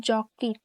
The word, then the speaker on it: যকৃত: যেমন দক্ষ ও দক্ষ প্রথমে অকার পরে ঋকার যুক্ত ব্যঞ্জন বর্ণ থাকলে ও এর মত উচ্চারণ হয় যেমন যকৃত উচ্চারণ হবে যকৃত শব্দের